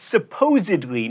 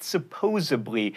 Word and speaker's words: supposedly: Definitely can be hard to pronounce, which is why I always go with most def, and it's supposedly, not supposably, and especially, not especially.